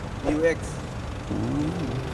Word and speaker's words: mu-X: It's pronounced as mu-X. Oh yeah. My bad. mu-X. Remember, it sounds like Mewtwo. Okay, Mewtwo, mu-X.